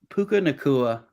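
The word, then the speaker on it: Puka Nacua: of here I just want to talk about puka nakua I love you okay yeah just made me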